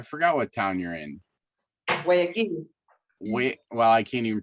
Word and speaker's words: Guayaquil: Guayaquil. Well, I can't even pronounce it. Guayaquil? Yeah, Guayaquil.